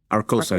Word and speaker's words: Arcosa: And as I mentioned, you are president and CEO of, am I pronouncing this right? Arcosa, yes.